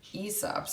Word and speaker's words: Aesop: Aesop's, or Aesop's, I just found out is how to pronounce his name.